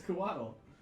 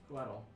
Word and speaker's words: Coatl: I believe it's Quaddle. It is. It's Coatl. Coatl.